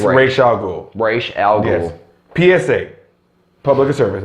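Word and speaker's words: Ra's al Ghul: that's the thing - man that's the correct pronunciation your name they call it how they call him Ross it's Rachel's Oh Rach don't ever if you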